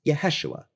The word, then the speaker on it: Yeshua: through suffering and self-sacrifice the five letters together are pronounced yeshua a reconstructed form of the name jesus not only is this